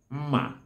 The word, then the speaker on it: mma: All knives are called mma in Igbo language. Mma. Mma is spelled as me-me-a, mma.